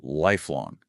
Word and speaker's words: lifelong: and lifelong, also with the stress on the first syllable.